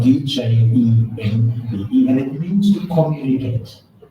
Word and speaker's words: djembe: And what we have in front of you is called a JB drum. It's spelled D-J-E-M-B-E, and it means to communicate.